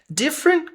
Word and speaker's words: different: Different, não lemos esse T. Different, ele existe, mas não tem uma vogal depois dele para sair um som tão entoado.